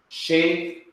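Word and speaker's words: שֶׁבֶר: This is a sign that you need to have two bays instead of one. And it is pronounced sheber, sheber, sheber.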